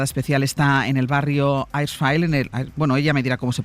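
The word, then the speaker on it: Achrafieh: es nuestra enviada especial, está en el barrio Aishfile, ella me dirá cómo se pronuncia, en el hospital donde están tratando algunos heridos. Mariela, ¿qué tal? ¿Qué tal, Ángel? ¿Cómo se pronuncia? Ashrafile. Pues Ashrafile, en ese barrio está ahora mismo Mariela Rubio.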